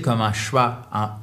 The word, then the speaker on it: schwa: S-C-H-W-A, c'est le schwa. Donc, la plupart des voyelles atténuées se prononcent comme des voyelles non accentuées, pardon, donc